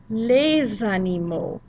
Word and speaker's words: les animaux: Les animaux domestiques. Les animaux domestiques. Note that we are making a liaison in between les animaux. We made that Z sound in there and it becomes les animaux.